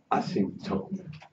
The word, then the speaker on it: asymptote: A ver, voy a decirlo bien, con la acento inglés. Asymptote.